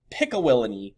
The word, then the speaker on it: Pickawillany: The British traders actually had the same idea, and they built the settlement of Pickawillany, is how you say it, in present-day Ohio in 1748.